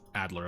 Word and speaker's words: Adler: Is it Adler or Elder? Have I been saying it wrong the entire time? Adler, okay.